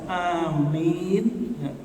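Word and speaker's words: آمين: Ketika imam membaca amin, amanah dia membaca amin. Perhatikan, A-nya panjang, Mi panjang. Amin. Kalau dua-duanya panjang artinya taqabbal.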